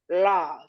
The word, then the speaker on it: Lauv: today on my show the artist known as love did I say that correctly yeah pretty pretty